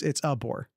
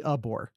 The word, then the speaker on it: Abor: No, it's Abor. I've been saying Abor for years. I acknowledge that during the recruitment and all that. It's actually Abor. I have the pronunciation guide from the spring game. It says UH-BORE.